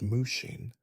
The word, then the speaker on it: mushin: No mind or mushin pronounced mushing doesn't mean you become a vegetable utterly devoid of thought or consciousness passively drooling in the corner.